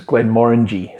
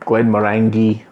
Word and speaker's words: Glenmorangie: that's pretty close is glenn moringe so have you ever seen this distillery it's not glenn murangy or anything like that just think more orangey because it is more